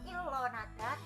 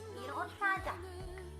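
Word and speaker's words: 일어나다: Jadi bukan dibaca ilo tapi dibaca iro karena realnya itu sama dengan dipindah. Tetap tulisannya ilonada tapi bacanya ironada gitu, seperti tulisan ini.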